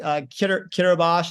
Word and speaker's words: Kiribati: I actually got stuck on an island called Kiribati. It's Kiribati if you try to spell it.